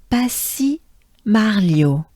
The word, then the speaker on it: Passy-Marliot: Passy, A-I, right? Passy. And next, Marliot, Marliot, Lio, and it's shortened, Lio. Again, let's take a good breath before even the smallest one because it just helps. Lio, and Marliot, good breath. Marliot. So as a whole, together, ensemble. Passy-Marliot. Encore, again, together. Passy-Marliot.